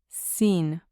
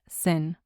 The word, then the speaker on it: sin: It's very similar to the English word, but the pronunciation uses a long e in Spanish. So, in English we have sin, in Spanish it is seen, like s e e n, seen. Seen. It is not sen.